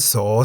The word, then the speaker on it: ส: The Thai consonant saw, se sounds like an S at the beginning of a syllable. Saw. At the end of a syllable, saw, se sounds like a T.